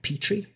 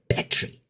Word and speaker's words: Petri: Like, here in America, we pronounce that Petri. He's like, Petri.